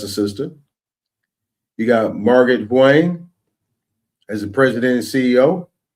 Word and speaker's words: Huang: Margaret Huang. You got to say it like this. Huang.